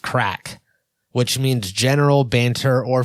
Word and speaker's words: craic: First of all, being crack, CRAIC, pronounced crack, which means general banter or fun, which I would say is us right now.